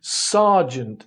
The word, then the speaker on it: sergeant: But why do we pronounce it sergeant if it is spelt sergeant?